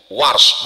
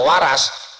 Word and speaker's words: Warsh: Saya dikit-dikit tahu qiraat Warsh karena guru Warsh, bukan Waras.